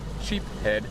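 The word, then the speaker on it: sheepshead: Today, like Christy was saying, it's all about the sheep's head. Sheep head is the right way to say it. Sheep's head.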